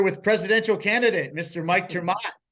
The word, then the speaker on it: Ter Maat: It's a Dutch name.